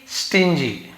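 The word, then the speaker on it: stingy: वान था but extremely स्टिन जीी लेकिन extremely यानी क्या होता है मतलब बेहद बहुत ज्यादा जी जी के साथ वाई हो आई हो ई हो हम जी का ग जी ज पढ़ते हैं बहुत कंजूस था सो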